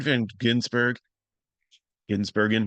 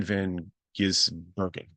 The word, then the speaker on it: Van Gisbergen: Shane Van Ginsbergen, let me say it wrong, I'm sorry. Shane Van Gisbergen is another road course guy, but he's still getting used to his Xfinity.